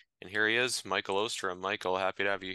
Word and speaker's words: Oosterom: base on later and here he is Michael ostram Michael happy to have you here hey happy